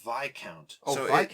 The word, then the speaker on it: Viscount: actually it's it pronounced VI count yeah the S is silent in the I don't